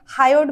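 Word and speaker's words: hyoid: हायड bone बोलते हैं।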